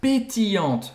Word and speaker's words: pétillante: Une bouteille d'eau minérale pétillante, com gás. Pétillante, pétillante. Aqui de novo a gente tem o LL que faz esse I longo, né? Pétillante. E a pronúncia aqui vai acabar no T, novamente, pétillante.